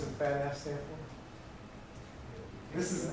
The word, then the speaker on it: FADAF: Can you pronounce that title? FADAF? FADAF.